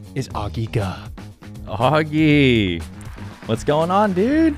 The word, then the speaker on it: Ge: It's Ge. You know what? Yeah. I always thought it was, I think most people probably pronounce it Ge or something.